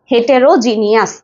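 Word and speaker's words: heterogeneous: ভিন্নধর্মী ওকে ভিন্ন ধর্মী আচ্ছা তাহলে হেটারেরোজেনাস আমরা মনে রাখবো কিভাবে এই যে হি তারপরে হচ্ছে টি ই হেটে রো আর ও রো জি ই এন E jenny O ইউ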